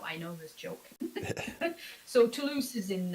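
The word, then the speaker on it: Toulouse: raised in France in tus how do you say it toos toose toose I had it right I know people joke about it to win yeah I know I know this joke so tulus is in h southern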